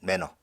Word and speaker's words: manna: 개라서 만나라고 하는데 영어 발음은 매너 매너 앤 퀘일 만나와 매출하고 자 커뮤너티